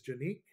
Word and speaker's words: Canik: all right let's talk about it first of all canik is not the proper way to say it it is a turkish firearm uh so the proper way to say it is janique i believe and uh i looked